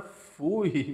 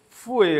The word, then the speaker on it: fouet: Para mim chamava era fouille, mas não tem nada de fouille. Fouet, agora eu aprendi. O pessoal aí nos comentários aí que me falou que se pronuncia dessa forma.